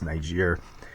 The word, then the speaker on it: Niger: It's Niger.